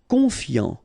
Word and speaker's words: confiant: Confiant. Final T not pronounced. So I-A-N, yan, fiant, confiant. Cruel.